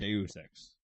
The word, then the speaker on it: Deus Ex: Deus Ex. It looks like Deuce. I would pronounce it Deus.